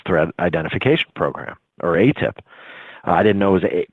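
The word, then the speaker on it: AATIP: the advanced aerospace thread enta fication program or a tip I didn't know was a quote I didn't know it's pronounced a tip at the time and that's the acronym AAT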